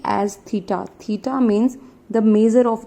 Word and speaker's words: theta: So I am here considering C as theta. Theta means the measure of the angle. This symbol is theta, like capital Q आपने बनाया हुआ है, it looks like in that way.